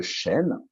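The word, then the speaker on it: Shen: Et je dirais que l'entité énergétique qui se trouve au niveau du cœur, on l'appelle le chêne. Et comme tu l'as dit, effectivement, ça s'écrit Non, S-H-E-N et non pas comme l'arbre euh, ouais, chêne, encore que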